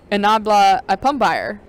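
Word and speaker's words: Nyaabila Apambire: I practiced his name, and I was excited to be able to say Nabla Apumbayer, spelled N-Y-A-A-B-I-L-A, and then last name A-P-A-M-B-I-R-E.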